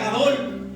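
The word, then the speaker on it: גדול: Porque podemos ver la palabra grande, en el hebreo se pronuncia Gadol.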